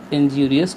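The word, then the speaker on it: injurious: In case smoking is इंजीरियस to health, इसको कुछ लोग इंजरस भी प्रोनाउंस करते हैं और कुछ लोग इंजीरियस, ठीक, टू हेल्थ।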